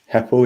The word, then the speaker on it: Heppell: and this is uh heppell is that correct apple yeah apple um many people say it right yeah correct